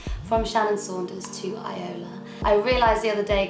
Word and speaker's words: iiola: I am now releasing music under the name iiola, which is spelled I-I-O-L-A.